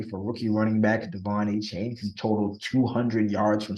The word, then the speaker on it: Achane: It's Devon A Chan, but we thought it was A Chain, but it's A Chan.